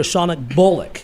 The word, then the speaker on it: Shawna Bolick: So we are introducing you to Shawna Bolick.